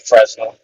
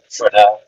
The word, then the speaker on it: Fresnel: some people pronounce it Fresno some people pronounce it frel named after the homeboy